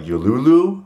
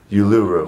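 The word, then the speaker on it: Uluru: we're going to like yulu I know I'm saying it wrong but you're oh I learned it y Yu yuru yuru yuru oh and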